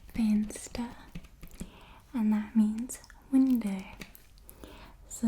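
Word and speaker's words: venster: and then we have fansta fansta and that means window so the v sound is like an f in afrikaans um faint stir and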